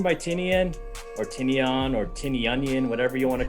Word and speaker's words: Tynion: It's written by Tinian or Tinian or Tinianian, whatever you want to call him. Tynion.